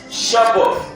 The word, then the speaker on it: Shabbat: In the Hebrew pronounces it Shabbat. Shabbat. Hallelujah. That's how the Hebrew pronounces it.